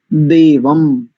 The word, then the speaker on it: देवं: जात वेद सन ऐसा, और देव शब्द के ऊपर जो अनुस्वार है इसका उच्चारण मकार की भांति करेंगे।